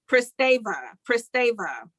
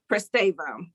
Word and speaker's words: Pristavia: Pristavia. That's how you pronounce it. Pristavia.